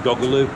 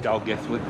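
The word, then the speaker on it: Dolgellau: Or if you read it on the map, it sounds like it's saying Doggaloo. That's it on the sign there, yeah, pronounce it Dalgethley.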